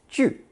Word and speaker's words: 锯: This character is pronounced fourth tone, 锯, 锯.